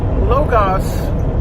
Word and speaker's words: Logos: some logos Americana or the correct way to pronounce it locus is if you read